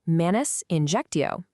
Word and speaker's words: manus injectio: First up is manus injectio, pronounced manus injectio.